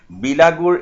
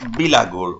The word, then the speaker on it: bilagur: the construction of velaghors, bilagur in their pronunciation, and setting fire to them to be the special prerogative. Prerogative means a hereditary right of cowherd boys. Now what happened? That kosaris, they also construct mezi and velaghors, and in their language they call it bilagur. Okay, in their pronunciation it is bilagur, and they believe that